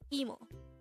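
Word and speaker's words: 이모: aunt the term is emo if it is your paternal aunt it is gomo emo is pronounced as a two-syllable word the first syllable is e and the second syllable is mo while como is also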